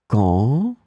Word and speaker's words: quand: In this lesson, we will see together two words that are written differently but pronounced the same way. Quand, quand.